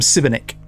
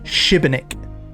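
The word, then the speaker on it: Šibenik: the job at now I have been calling him Civic but I've checked the pronunciation on Google apparently it's shibenik I'll try and remember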